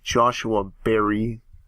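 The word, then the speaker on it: Joshua Barrie: It's written by Joshua Berry. That's how you pronounce his name.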